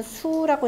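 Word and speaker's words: 宿: 되죠 이성 역수가 되니까요 잠잘 숙자는 별자리를 읽으면 수라고 읽는다 그랬죠 이성력소에서 바로 별자리가 옮겨지고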